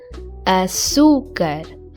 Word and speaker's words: açúcar: The answer is açúcar, with the cedilha on the C because it comes before U, and the acento agudo on the U to mark the stress. Açúcar.